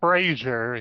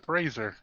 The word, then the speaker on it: Fraser: something like that his name's not Brandon or Frasier it's Fraser that's right it's not Fraser crane have you seen the um well I